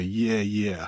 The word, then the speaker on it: Yeah, Yeah: but it's Y', but it sounds like if an American would say Yeah, Yeah. Yeah, thank you for that pronouncer, because that's not how I was pronouncing it. Yeah, yeah. I was saying it more like that the Chinese film Yi Yi. It's but like yeah, yeah.